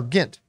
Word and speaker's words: Grint: that is not Rupert Grint or gint or how do you pronounce it Grint I did so I said right the first time Grant are they ready